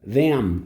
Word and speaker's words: them: O M, ele é bilabial. Você fecha a boca para falar. Então é them. Né?